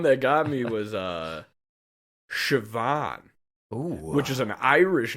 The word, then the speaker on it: Siobhan: got me was uh Shian oh which is an Irish name wow is spelled sioban it's like s i o b a n or something like that Shaban yeah and how did